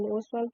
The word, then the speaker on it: Ostwald: Now here children, T is silent in Ostwald process.